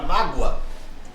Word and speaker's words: mágoa: Perceba que a palavra mágoa tem como a sílaba tônica o má, que é uma paroxítona.